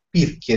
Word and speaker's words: Pirchie: Pirchie, sì. Si scrive Pirchie. Come Tirchie, ma con la P.